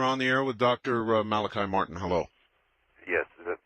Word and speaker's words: Malachi: And I had a question, but I just was kind of really thrown off by something the Father Malachi, is it? Yes. Okay, pronounced it right.